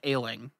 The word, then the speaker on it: Ayling: there who they named ayling a-y-l-i-n-g like as in sickly it sounds like he does sound like that but it's spelled differently it's spelled spelled in